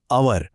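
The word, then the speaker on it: hour: सगळं अगदी स्पष्ट होईल आर हा शब्द घ्या स्पेलिंग तर एच ने सुरू होतं पण आपण हवर नाही म्हणत आपण म्हणतो आवर अ हा तर स्वराचा आवाज आहे म्हणून अन आवर आणि आता बघा युनिव्हर्सिटी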